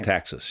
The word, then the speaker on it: Metaxas: Metaxas, yeah.